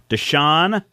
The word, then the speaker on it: Deschain: Deschain.